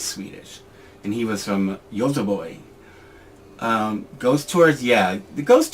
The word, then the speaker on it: Göteborg: Gothenburg, or what, isn't it, actually, don't you pronounce it Göteborg? I used to work for actually a company, the startup company that I worked for, the owner was Swedish, and he was from Göteborg.